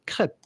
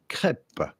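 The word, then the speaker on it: crêpe: go about pronouncing it with a typical French pronunciation in French we would say crep crep the is silent but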